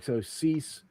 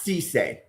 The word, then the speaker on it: Cisse: So Cease. Pronounce Cisse. Cisse. Sorry, Cisse.